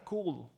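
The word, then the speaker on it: CeWL: O podemos utilizar un programa como el que pongo ahí, se pronuncia Cool.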